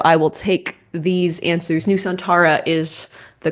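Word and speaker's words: Nusantara: enough for me uh new santra I'm not going to give it to you because I do kind of need the separation of syllables new santara uh newana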